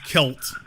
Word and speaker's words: Celt: that's one of them so it's it's actually pronounced kelt the the Celtics from the kelt as opposed